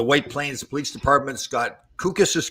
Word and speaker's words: Kukas: Scott Kukas is correct pronunciation, Scott?